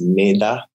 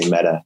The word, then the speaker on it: Mettā: It's actually pronounced Mettā, but we just say Mettā. It's a Pali word.